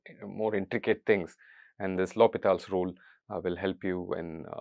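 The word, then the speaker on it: L'Hôpital: us learn it as L hospitals rule or or something like that I think Lal is the correct French pronunciation close enough to the French pronunciation that I can manage okay so let's get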